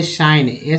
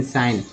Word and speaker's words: sign: उच्चारण हो रहा है, GN में न का उच्चारण करना होता है, LK में क का उच्चारण करना होता है, LM में जो है म का उच्चारण करना होता है, MN में म का उच्चारण करना होता है। ये देखिए यहाँ पर DG में एक वर्ड ले लेते हैं लॉज, ठीक है, LODG, लॉज। GN में ले लेते हैं शाइन, SIGN, शाइन।